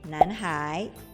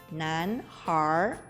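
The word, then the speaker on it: 男孩: Anak laki-laki dalam bahasa Mandarinnya disebut Nanhai. Kalau menggunakan aksen Beijing diucapkan Nanhar.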